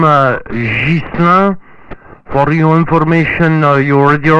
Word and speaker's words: Ghislain: My name is Ghislain, spell it Golf Hotel India Santiago Lima Alpha India November. For my name Ghislain, for your information, your radio report 55-56, 5x5, 5x6.